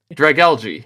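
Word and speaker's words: Dragalge: Um, this was the Drag Elg variant versus skunk tank. That's how you say it. Drag algae. Yeah. Oh, I have definitely been saying that wrong every single Pokemon X video.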